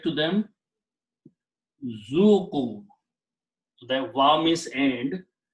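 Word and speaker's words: ذوقوا: Alif is not pronounced. So the word is zuku.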